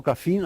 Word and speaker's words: graphene: you want like like graphite or graphene I should say it like a fin but then they are